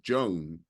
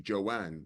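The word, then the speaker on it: Jan: most people call her Joan but her name is actually Joanne so actually understanding how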